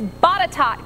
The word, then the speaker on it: Botetourt: And I can always rely on my phone-a-friend Twitter to tell me helpful pronunciations. It's Botetourt County there in the state of Virginia, now moving into Rockbridge.